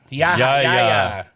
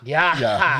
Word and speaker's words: Yahya: Yahya. But over here, Yahya. Okay. Well, I have the H. Don't confuse him with Yo-Yo Ma. Yo-Yo Ma. Because the H makes the ya. Yahya.